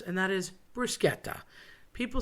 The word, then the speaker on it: bruschetta: So bruschetta with a CH is a K sound, although people want to make a sh because it looks like that, and we tend to do that in English.